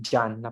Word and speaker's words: Gianna: la pronuncian en español si la pronuncian como Juana en italiano es yanna pero se escribe Esta